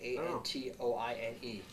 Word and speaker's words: Antoine: name P show uh how do you say that a n t o i n e is Anon Antoine I'm gonna go with that Antoine is not what